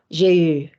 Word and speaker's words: j'ai eu: J'ai eu. Thank you. I tell you every week, people. U is not pronounced U there.